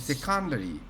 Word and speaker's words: secondary: secondary. Yes, that's right. Yes, So just change the accent. It's secondary.